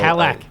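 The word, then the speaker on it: Calak: Kalak. Yeah, like a Cadillac, but without the D.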